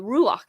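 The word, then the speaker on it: ruach: and and the uh the rulak as it's right pronounced so the spirit of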